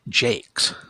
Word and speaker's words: Jacques: I had a went to school with a girl whose last name was Jacques, but she pronounced it Jakes, so who knows.